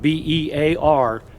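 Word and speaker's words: Bexar: it's bear county bigfoot it's not b-e-a-r it's b-e-x-a-r pronounced bear as in black bear grizzly bear go on his channel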